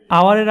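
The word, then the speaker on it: hour: এবং এখানে আওয়ারের আগে কিন্তু অ্যান বসছে, কারণ এই এইজের উচ্চারণটা কিন্তু হয় না, প্রোনাউনটা কিন্তু ও আওয়ার হয়, তো এই জন্য অ্যান বসছে।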